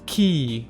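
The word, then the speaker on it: quay: although I know Don I know how to pronounce this now it's key right yeah that's right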